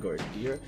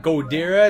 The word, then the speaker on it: Ghidorah: It's not Godira, it's Ghidorah.